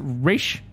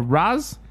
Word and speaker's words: Ra's al Ghul: Sir, is it pronounced Raish or Raz? Depends who you talk to.